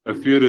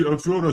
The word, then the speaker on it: афера: Ударение на слове афера, а не афера.